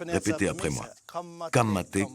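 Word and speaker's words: Ka mate: Il y a quelques mots qu'il faut apprendre à prononcer. Répétez après moi. Kamate Kamate Kaora Kaora.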